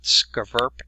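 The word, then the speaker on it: SCVURPPP: will inspect different facilities so what the what skaverp is that's how you pronounce their acronym it's a multi-jurisdictional cooperative effort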